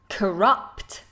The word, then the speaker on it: corrupt: Could you pronounce the words corrupt? It's got that schwa instead of the vowel at the beginning.